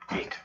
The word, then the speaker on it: eat: Percebem que é esse I bem marcado e o T na ponta da língua, vamos dizer assim. É um T fraco. Não tem aquele som explosivo do CH. Não é it, é I.